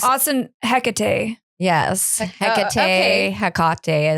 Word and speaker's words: Hecate: Hecate is how I pronounce it in her Hellenistic form, her triple form.